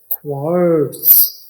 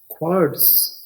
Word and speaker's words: quartz: अगला लफ्ज है क्वार्ट्ज। QUARTZ। क्वार्ट्ज।